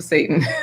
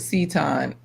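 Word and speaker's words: seitan: Talking about ex-wife is a good name for Satan. Let me see. Oh, you pronounce it Seton.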